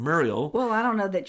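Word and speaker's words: Merial: Institute, who created some of these coronaviruses, and Merle PLC, which, Merle, I can't remember the exact name of the company, M-E-R-I-A-L. No, that's correct. Muriel. Yeah. I'm saying it wrong. Muriel.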